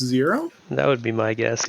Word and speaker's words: XERO: Jaimen, would you pronounce the XERO 0?